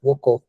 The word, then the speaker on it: ocó: falou que é oco como é que pronuncia mesmo é oko é com w o o co o aquele chapelzinho todo em cima do do o Ah tá ocó é pô show de